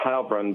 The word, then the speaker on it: Heilbrun: I believe it's Heilbrun, but you'll have to ask him how he prefers it.